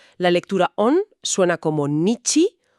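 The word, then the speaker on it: にち: escrito en un papel se pronuncia nichi, que es como lo dicen en China.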